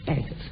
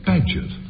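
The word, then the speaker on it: Bagehot: Bagot. Is that how you pronounce it? Badgett. Badgett, I think.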